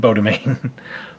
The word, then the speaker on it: Beau Demain: Beau Demain.